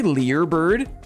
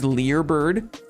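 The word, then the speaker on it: Learbird: It's actually Lear Bird. Can you imagine if it was Learird this whole time? Lear Lear Bird. And I've been saying it wrong.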